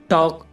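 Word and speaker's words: talk: इसकी हिंदी है आधा टॉक टॉक में देखो गाइ के से पहले एल आया हुआ है तो एल साइलेंट है इसमें और इसकी हिंदी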